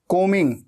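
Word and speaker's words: combing: एम कोमिंग my hair कोमिंग को मिंग ऐसे बोलना है ठीक है बी हमेशा साइलेंट होता है स्पेलिंग में आता है लेकिन बोलते वक्त उच्चारण में नहीं आता प्रोनंसिएशन में नहीं आता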